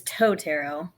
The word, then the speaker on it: Teau: pz and Ally from tow tarot do I have that right is that the proper way to pronounce it so it's toeto uh my last name is so I